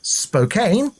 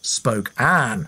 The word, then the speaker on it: Spokane: Spokane, that's how I said the city's name. Christy says it's pronounced Spokane, as in Queen Anne.